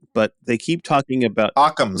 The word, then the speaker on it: Occam's: they keep talking about Occam's. They keep talking about Arkham's razor because they're all British in the show, and it sounds like they're saying Arkham's razor, and I'm like, I know what they're talking about, but OCCAMS.